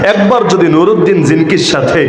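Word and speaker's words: زنكي: একবার যদি নুরুদ্দিন জিনকির সাথে, বাংলায় বলে জঙ্গি, আসল উচ্চারণ জিনকি, এই নুরুদ্দিন জিনকির সাথে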